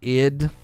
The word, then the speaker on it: id: lot of different things id is pronounced id like it oh i've always said